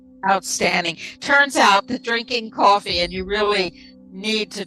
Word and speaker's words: KOFY: So KOFY, pronounced coffee.